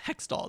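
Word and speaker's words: Hextall: you would think so it's pronounced hexall though yes I've not seen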